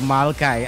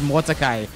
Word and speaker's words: Malachi: I'm now watching the restream and how I mispronounced Malachi. I said Mordecai.